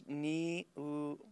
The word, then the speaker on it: Niumatalolo: I might butcher this, but it's Niumatalolo.